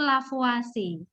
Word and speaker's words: Lavoisier: merupakan hasil dari penelitian sederhana yang dilakukan oleh lavoisier di laboratorium Nadia merekam by da biasanya membaca caranya baca itulah for watching lapo-lapo asyik lavoisier itu dibandingkan orang Perancis ya bacanya tuh lavo asing bahwa chefathi bingung yaitu orang Perancis ya silahkan